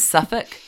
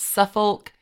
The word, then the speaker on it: Suffolk: I now know it is Norfolk, not Norfolk. It's Suffolk, not Suffolk.